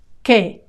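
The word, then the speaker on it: que: L the masculine l k that K notice here that the U is silent k k n in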